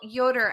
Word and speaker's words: Yoder: it uh it's by Rachel Yoder I think is how you pronounced her last name y o d e r the premise is